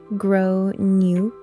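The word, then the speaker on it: Gráinne: girl was named Gran, which is normally pronounced something like grow new.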